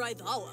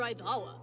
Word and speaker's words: Aizawa: Aizawa. Aizawa? We've been saying Aizawa forever. I know, it's Aizawa. So bad. Yeah. We've been saying it wrong.